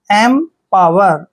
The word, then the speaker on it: empower: को मैं लिखते हैं, PO का उच्चारण यहाँ पर पा करेंगे ऐसे पा, और WE को वह पढ़ते हैं, आर को रे। एम पावर, एम पावर, एम्पावर होता